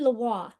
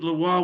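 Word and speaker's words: Leroy: pronounce her name name patrine laah that's LA because she's French and you know I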